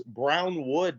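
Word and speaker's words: Brownwood: the space and uh it was brown wood Texas not Browns because everyone was like saying the the name wrong yeah yeah and I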